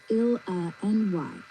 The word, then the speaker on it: Illinois: Illinois is pronounced Il-N-Y.